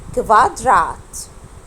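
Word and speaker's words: Quadrat: الكو او بيتنطقوا كفا كفا، عشان كده الكلمه دي هنطقها ازاي؟ كفاترات. كفاترات او كفادرات.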